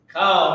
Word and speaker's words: Kal: Kal meaning all. Okay, K-A-L, not like C-O-W.